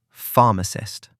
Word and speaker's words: pharmacist: Today's word, pharmacist. 3 syllables. Pharmacist. Stress on the first syllable.